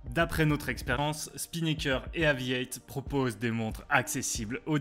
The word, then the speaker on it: AVI-8: Aviate, qui se prononce à l'anglaise Aviate avec un 8, renvoie, comme son nom le laisse deviner, à l'aviation.